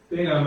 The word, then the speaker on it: Bingham: Resolution 2021-25, resolution affirming the appointment of Jeff, is it Bingham? Is that how I say his name, Yes. Chief? Correct. Okay. Bingham as a full-time police officer for the village of Minerva Park, Ohio.